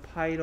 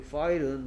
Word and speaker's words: pile: 이 file은 말 그대로 컴퓨터 파일이나 또는 어떤 서류를 묶어놓은 서류처를 file, f 발음이고요. 윗니가 아랫 입술을 스치고요. 얘는 입술이 붙였다 떨어집니다.